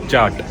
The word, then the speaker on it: kyat: It's because their currency is KYAT but pronounce it as CHAT. KY is pronounced as CH in their language.